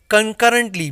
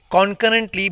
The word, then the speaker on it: concurrently: Now here's the second adverb, concurrently. Most of the people pronounce it concurrently, but इसका correct pronunciation है concurrently, means at the same time और simultaneously.